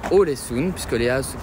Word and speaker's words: Ålesund: Voilà, nous sommes bien arrivés à Ålesund, puisque Léa se prononce O.